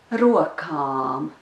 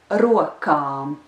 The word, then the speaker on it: rokām: But anyway, the last two words together are abām rokām, abām rokām.